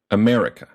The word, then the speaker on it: America: with an example word America or the second syllable me is stressed uh to stress a